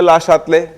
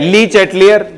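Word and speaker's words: Le Chatelier: ये एक French word है, अगर इसका फ्रेंच प्रोनाउंसिएशन देखें तो होता है ला शातले, लेकिन हम ला शातले है ना, क्या है ना, हाँ। फिर अगर हम इंडियन वर्जन पे आते हैं तो होता है ली चैटलियर, और उससे भी नीचे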